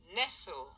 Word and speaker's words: Nestle: Nestle. Nestle. ما تقراوها ليش نسلي.